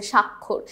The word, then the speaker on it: স্বাক্ষর: উচ্চারণেই শুধু মিল আছে, স্বাক্ষর। কারণ শুরুতে, শব্দের শুরুতে যখন বফলা থাকে সেটার উচ্চারণটা তো হয় না। এটা তো আমরা এর আগে উচ্চারণের চ্যাপ্টারে শিখে এসেছি যে শব্দের শুরুতে বফলা থাকলে সেটার উচ্চারণ আমরা করি না।